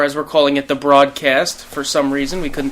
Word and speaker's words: Brahdcast: also when you say it's actually pronounced the broadcast like bro you know what i mean